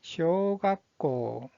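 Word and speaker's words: 小学校: 자, 초등학교라는 뜻을 가지고 있는 이 한자의 발음은 쇼각고, 쇼각고.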